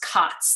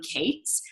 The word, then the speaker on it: Kaats: but actually technically so my last name is Dutch and it is it is pronounced COTS that is the / correct pronunciation but when whenever it was Americanized and became Kate's so and I've lived